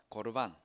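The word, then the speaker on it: קרבן: 고르반. 저거 그대로 읽으면 고르바노라고 읽어야 되는데, 고르반이라는 표현에다가 대명사, 전미사, 3인칭, 남성 단수라는 것을 붙여놓은 거 제가 너무 아는 체해서 정말 죄송합니다.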